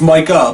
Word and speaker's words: Micah: Jones did about it, he always called him Michael Parsons. He can't pronounce Micah. Micah Parsons.